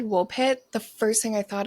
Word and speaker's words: Woolpit: And Woolpit is pronounced exactly how it's spelled. Wool like a sheep.